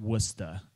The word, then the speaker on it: Worcester: at Worcester Polytechnic Institute that's pronounced wusta around these parts her research and creative